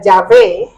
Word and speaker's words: Yahweh: Yahweh, que también se pronuncia Yahvé, es la pronunciación más aceptada por los eruditos y estudiosos bíblicos para el nombre original en hebreo.